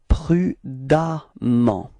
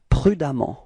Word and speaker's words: prudemment: Okay, and the strange thing is that you will write ement for the adverb, but then you pronounce as if there was a a. Okay, it's prudemment. Okay, prudemment.